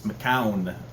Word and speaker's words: McCoun: you say it Maan I know a lot of people say mcon but I think it's maau Ma it's maau Dylan maau and his him